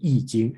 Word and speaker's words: I Ching: Some people, the old way spell is this one, but I Ching, okay, but you should pronounce it I Ching, and in today you call it I Ching, and then another way to call it is the Book of Changes.